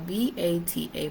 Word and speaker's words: Vata: The dosha that we are paying attention to is called Vata, and it's spelled V-A-T-A, Vata.